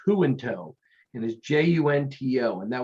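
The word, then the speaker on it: Junto: he did his thing in in and it's pronounced who in tow and his j-u-n-t-o and that was his style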